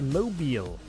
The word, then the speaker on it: Mobile: don't know why not it's pronounced mobile just in case the Crimson Tide mob come after you how's that Crimson Tide